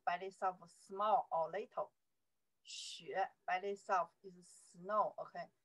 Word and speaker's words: 雪: 雪, there's a character pronounced 雪.